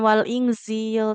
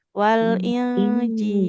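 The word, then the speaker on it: والإنجيل: Yang ini bukan wal inzil tapi wal injil.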